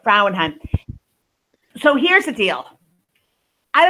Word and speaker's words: Frauenheim: Very excited today to have Frauenheim. Did I say it right? Yep. Frauenheim.